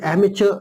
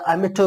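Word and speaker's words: amateur: ठीक है, या एमेटर, इसको दो तरह से हम प्रोनाउंस कर सकते हैं, एमेचर, एमेचर र तो प्रोनाउंस होता है, और एमेटर, एमेटर उसको इस तरह से भी प्रोनाउंस किया जाता है, एमेटर।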